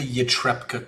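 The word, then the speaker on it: Ytepka: There are the laws of Port Nyanzaru, there are the laws of the Reclamation Guild, and then there's the Yatrepka Code.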